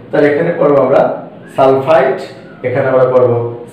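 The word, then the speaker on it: sulfite: Similarly এখানে আর এখানে যদি খেয়াল করি দুইটি একই, এখানে শুধুমাত্র এখানে 3, এখানে 4, তাহলে এখানে পড়বো আমরা সালফাইট, এখানে আমরা পড়বো সালফেট।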